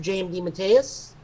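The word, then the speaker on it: J. M. DeMatteis: i'm fine with that and that is mr jmd matthias i also know it's pronounced correctly because it says his name rhymes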